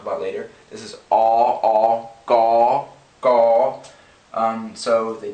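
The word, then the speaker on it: ក: what you see here, which is pronounced gaw, gaw. So I'm going to go ahead and write that. Gaw. So this is actually similar to an English G. It's unaspirated, just a g sound.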